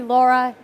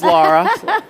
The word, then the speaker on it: Lara: It could be Laura. It could be Laura. You can make it your Lara. own. You can make it your own. Officially, it is Lara because of the English pronunciation.